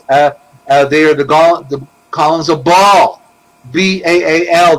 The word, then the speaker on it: Baal: They are the columns of Baal, B-A-A-L. The two A's represent the two columns, because one A is silent.